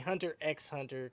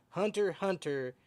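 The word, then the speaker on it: Hunter × Hunter: That I hate saying Hunter x Hunter because I know the X is silent, but Hunter x Hunter.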